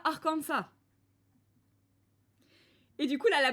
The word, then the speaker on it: Arkansas: compris l'Amérique du Nord appelle ça arkensas alors que les gens qui vivent sur place appellent ça arkansa et du coup là